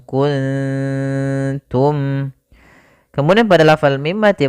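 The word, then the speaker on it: كنتم: Maka cara membacanya yaitu samarkan nunnya kepada huruf ta. Makhraj daripada ta yaitu ujung lidah kita menempel dengan gusi atas, maka wa in kuntum, ikhfanya ke kaf, wa in ku langsung kuntum.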